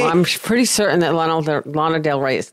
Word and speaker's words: Lana Del Rey: I think you have to say it like Lana Del Rey.